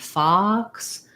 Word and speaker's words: fox: or more closed so think of this one lock and fox as really having a really open eye and your tongue is pushed way down so i would say la la fox fox um and again